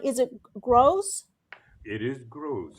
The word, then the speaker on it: Grosz: It is Gross. It's the same Grosz. as the Gross Grosz. pronunciation, but the Z on the end is the Hungarian spelling instead of the other.